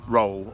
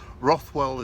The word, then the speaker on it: Rothwell: of the work i've done on tokens from roll or rothwell as it's spelt rolls it's pronounced locally and um i've